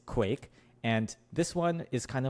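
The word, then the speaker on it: KwaiQ: So it's stylized as if the Q is pronounced as its own letter as its own syllable. That's not true.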